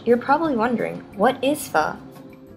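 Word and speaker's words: phở: be as F and to say it like you're asking a question I find F and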